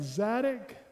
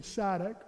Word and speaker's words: Zadok: 40 years before that, on David's deathbed, we had Zadok, T-S-A-D-O-C, Zadok, or Z-A-D, Zadok, however you want to pronounce it.